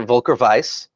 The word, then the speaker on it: Volker Weiss: Basically, his grandfather, Volker Weiss, which I'm using the German pronunciation on that, is from Eisen, which in 7th Sea, it's basically a German-like country.